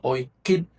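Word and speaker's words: Oycib: Y el pueblo maya se llamaba Oikip. Oikip. O Y c i b alta la bl la vial. Oip, pero se se pronuncia o kip.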